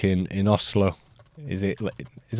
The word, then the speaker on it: Oslo: or like in in Oslo is it is how he you don't say Oslo when you're Norwegian it's Oslo it's neat it's like a very soft pronunciation from an English point of view yeah because obviously Norway